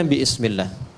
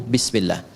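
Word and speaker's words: بسم الله: Asalnya ini ada alifnya di sini dari kata ismun begini. Asalnya bismillah dibaca nyambung bismillah dan cuma di bismillahirrahmanirrahim alifnya hilang.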